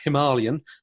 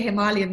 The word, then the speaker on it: Himalayan: They get upset if I say Himalayan. Okay. Yeah. Exactly. Yeah. I also say Himalayan because it's the way they pronounce it in India.